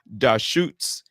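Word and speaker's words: Deschutes: And the best part is the website tells you how to pronounce it, and it's Da Shoots Fresh Squeeze IPA.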